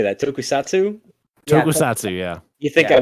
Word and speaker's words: tokusatsu: tv tokats tokens how do you say that tokusatsu tokusatsu yeah you think i would have read that and tried to pronounce it before the live read but whatever